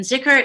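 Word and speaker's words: dhikr: uh zicker knight and zikr is a is spelled d-h-i-k-r but pronounced like it means remembrance of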